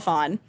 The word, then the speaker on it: Phan: So a few years ago, our coworker Dana, she's no longer working there, but she was doing a story on Michelle Phan.